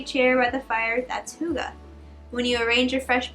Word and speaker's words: hygge: Hygge, pronounced, H-Y-G-G-G, pronounced Hygge, is a funny Danish word with no English equivalent.